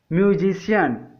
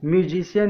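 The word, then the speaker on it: musician: यदि सी के बाद आई ए आ जाए तो सी का उच्चारण श हो जाता है। उदाहरण से समझते हैं। फेशियल, फेशियल मीन्स होता है चेहरे से संबंधित। म्यूजिशियन, म्यूजिशियन मीन्स होता है गवैया।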